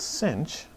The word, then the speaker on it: sinh: The hyperbolic functions, hyperbolic sine, sometimes called sinh, is going to be e to the x minus e to the minus x over 2.